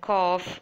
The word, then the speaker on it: cough: G is silent and cough gh sounds like F in this particular word similarly you must have